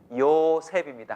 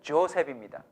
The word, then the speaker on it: 요셉: 요셉입니다. 한번 따라서 합시다. 요셉. 야, 사람 이름 하나는 기억하고 가세요. 요셉이에요. 영어식 발음은 조셉입니다.